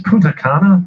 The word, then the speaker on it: Punta Cana: It's Punta Cana, I believe, if I'm not. You're right, Punta Cana.